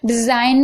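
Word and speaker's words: design: रिजाइन, रिजाइन में भी आप देख रहे हैं, यहाँ पर देखिए एन से पहले जी है तो जी साइलेंट है। ठीक है, डिजाइन में भी आप देख रहे हैं जी साइलेंट है।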